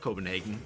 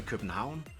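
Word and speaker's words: København: do you pronounce Copenhagen cuz it's not Copenhagen it's actually Ken Hound and I'd like you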